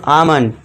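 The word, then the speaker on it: almond: यदि ए और यू के बाद एल हो तो एल साइलेंट होगा।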